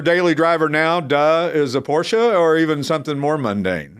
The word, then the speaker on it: Porsche: Depends on who that's not how you pronounce it. It's Porsche. Yeah.